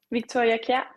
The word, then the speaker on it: Victoria Kjær: I'm not going to pronounce her name. I'll get you to do it. Victoria Kjær.